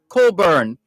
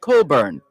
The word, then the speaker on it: Cockburn: you basil beedle barbara coburn that's how that name is pronounced c-o-c-k-b-u-r-n it's spelt cockburn but pronounced coburn c-o-c-k-b-u-r-n it's colburn and